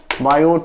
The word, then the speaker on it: Biot: चलिए, तो according to बायो Savart law, according to बायो T silent है, बायो Savart law बोलते